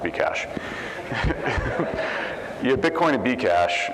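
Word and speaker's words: Bcash: you had be cash it's pronounced be cash yeah Bitcoin and be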